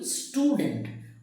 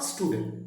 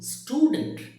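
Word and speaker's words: student: উচ্চারণ কিন্তু স্টুডেন্ট, নট স্টুডেন্ট, স্টুডেন্ট।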